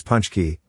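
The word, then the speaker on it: pączki: traditional polish sweet often eaten on fat tuesday pronounced as punch key this popular polish desert is a doughnut shaped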